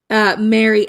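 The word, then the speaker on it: marry: merge, which is that the word Mary, M-A-R-Y, Mary, M-E-R-R-Y, and Mary, M-A-R-R-Y are all pronounced the same.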